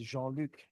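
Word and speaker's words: Jean-Luc: Actually it's Jeanluke Jeanluke Jeanl John Luke.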